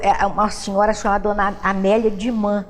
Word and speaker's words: Dumas: Ele falava que por volta de 1892 a 94, foi uma senhora chamada Dona Amélia Dumas. O pessoal fala Dumas, que aportuguesada é Dumães, mas se pronunciar em francês é Dumas.